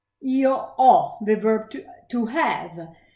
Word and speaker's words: ho: Io ho, the verb to have, where we don't pronounce the H and we pronounce the O as an open O.